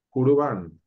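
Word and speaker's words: Jurbán: Jurban. Jurban. Urban. Urbano. Jurban es una palabra que ¿Con denota K?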